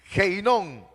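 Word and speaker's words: Ge Hinnom: que se utiliza y es ge inon así se pronuncia heinon según la historia este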